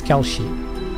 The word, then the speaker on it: Kelsey: I'm going to pronounce I'm I'm going to pronounce her name like the Japanese which is Kelshi but it's easier for me.